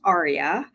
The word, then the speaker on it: AREAA: Arya right AAA uh we pronounce it Arya um like the Opera movement or like the hotel in Las Vegas um it is a